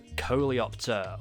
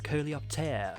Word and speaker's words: Coleopter: So today I'm going to be covering the Coleopter, or the Coleopter, if you want to pronounce it in the French way that it actually was.